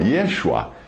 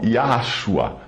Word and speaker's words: Yeshua: E aqueles que querem fazer referência ao fato do Messias ser judeu, que use então o seu nome original, Yeshua, e não Yahshua ou Yahusha. Lembrando que o poder do nome não está na pronúncia, mas na pessoa que o nome representa.